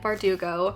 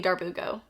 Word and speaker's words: Bardugo: of crows by Lee bardugo did I say her name right this time I did can I get a round of applause I did not call her Lee Darbo wait is that even